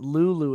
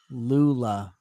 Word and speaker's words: Lula: We did this one with a character named Lula, and my teacher kept pronouncing it Lulu, and it's like Lula. It's an A, you geriatric pile of garbage.